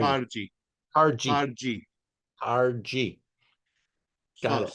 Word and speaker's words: Kharji: So the wine that we're trying right now, Khatoun Hari. Kharji.